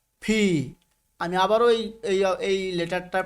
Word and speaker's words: P: এল, এম, এন, ও, ফি। আমি আবারও এই লেটারটার প্রোনাউন্সিয়েশন করছি, একটু খেয়াল করবেন ভাই আমার। ফি, ফি। দুটো ঠোঁটকে একটু ভিতরের দিকে নিয়ে চাপ দিয়ে ছেড়ে দিবেন, ফি।